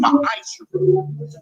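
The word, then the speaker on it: ma'aser: You can find this in Numbers 18:21, Malachi 3:8-10, means 10th in the Hebrew, and it's pronounced ma'asher.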